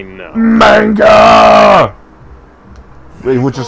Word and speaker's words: manga: who that is now if you pronounced it wrong it's manga I know manga which is how Manga